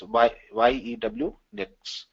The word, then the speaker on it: Unix: Later on, it was written in C language and named as Unix, pronounced as YEW, Nix.